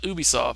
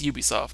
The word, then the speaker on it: Ubisoft: Tom Clancy Ubisoft and that is pronounce Ubisoft not Ubisoft its Ubisoft cuz I work with